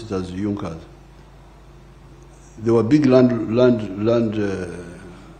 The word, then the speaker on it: Junkers: It is written Junkers, but they pronounce it as Junas.